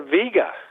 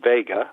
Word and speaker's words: Vega: near the bright star Vega, a famous uh star that too many people mispronounce as Vega, but it is Vega.